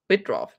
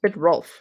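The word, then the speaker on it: Bittrolff: Actually, I put this one last because John Bitroff. Bitroff. Did I spell that right? Yes, Bitrolf. John Bitrolf. Bitrolf. It's R-O-L-F-F. Okay.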